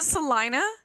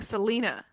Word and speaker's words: Salina: 16th is against Salina is it Salina it is I've been I've been saying Selena pronunciation okay Salina Liberty um